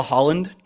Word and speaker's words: Haaland: Haaland. Oh, glad you didn't ask me, because I would have said, don't they have a Holland? Which would have been correct, just not phonetically.